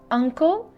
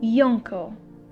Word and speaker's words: uncle: different case in which we pronounce the letter u as uh sound not as yeah sound by saying uncle and not yonko and the next example